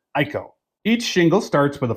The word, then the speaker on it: IKO: Most of the top brands you'll find is GAF, Owens, Corning, Certainted, Malarkey, and IKO, or as they pronounce it, Ieko.